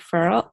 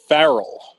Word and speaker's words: Farrell: I'm here with furrow how do you say your last name actually it is Farrell Farrell okay I'm here with